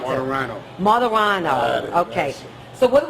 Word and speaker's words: Martorano: How do you pronounce Martorano. it? Martorano.